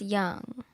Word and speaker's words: Jung: How old was George Jung in the younger I years? thought it's Young. Jung or whatever. That's how they kept pronouncing it. Yeah, Young. young.